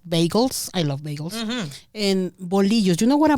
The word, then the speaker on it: bolillo: Girl, I have been mispronouncing that. I've been calling them bolillo. Say it again for me. Bolillo. Bolillo. Yeah. Thank you. You got it.